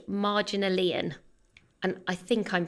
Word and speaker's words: Marginalian: And Brain Pickings is now actually called Marginalian. And I think I'm pronouncing that right, as in marginal and then IAN at the end. I would go Marginalian.